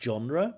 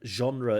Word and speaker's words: genre: genre here I think he pronounced it with a harder J like genre but genre is the accepted pronunciation but very good vocab